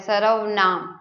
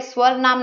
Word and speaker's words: सर्वनाम: और जो ऊपर आधा र होता है उसको हमेशा जिस अक्षर पे वो होता है उससे पहले उसकी प्रोनाउंसिएशन होती है सर्वनाम, ठीक है। स्वर नाम नहीं बोलेंगे इसको, तो क्या बोलेंगे इसको? सर्वनाम, ठीक है।